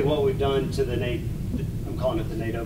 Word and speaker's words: NATO: NATO rhymes with Play-Doh, I remember that.